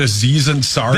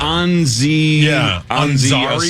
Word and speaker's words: Aziz Ansari: When he said Aziz Ansari? That was before we changed the rule. I know, but that was so bad. It was something really like bad. Anzi Ansari.